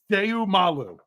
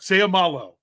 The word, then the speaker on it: Seumalo: Every vowel gets a syllable. So you have to pronounce every vowel with its own syllable. Seumalu. Or sorry, I said u instead of o. Seumalo.